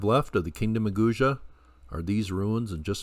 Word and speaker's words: Guge: These are the ruins at Guge, and I've heard it pronounced a few different ways, but that's what I'm going to go with, Guge.